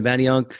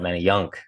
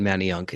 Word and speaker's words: Manayunk: know how to pronounce Manayunk if they see the word yeah they always have the emphasis on the y-u-n-k they go they call it many young and I'm like dude